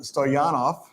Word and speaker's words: Stoyanov: Anyway, I love the passion and the energy of our strength and conditioning coach, Adam Stoyanov.